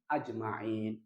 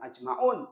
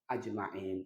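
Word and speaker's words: أجمعين: ya majrulnya dengan ya berarti bacanya wa ala alihi wa ashabihi ajmain Bukan ajmaun tapi apa ajmain majrur dengan ya berikutnya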